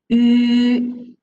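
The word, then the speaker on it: ü: The pronunciation for this one is yu. So as I'm telling you, yu, this pronunciation. If you don't know how to pronounce, then we can starting from the letter E at here. So you read E first. Then after that, so you slowly circle your lips, okay, to the end.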